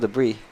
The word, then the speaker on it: debris: Best thing you can do is keep it clean and free of debris. Why do we pronounce debris like that? Why isn't it debris?